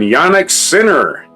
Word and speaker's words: Jannik Sinner: In the Australian Open, Jannik Sinner. That's how his name's pronounced. That's how it's spelled, so that's how I'm going to pronounce it.